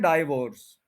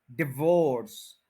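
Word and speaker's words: divorce: ये जो डाई है इसको डी पढ़ें, डी, डी आई एच, डे, और फिर Wars, डिवोर्स, डिवोर्स, डिवोर्स, डिवोर्स। डाइवोर्स word नहीं है, डिवोर्स। डाइवोर्स जो कहेगा वो गलत है।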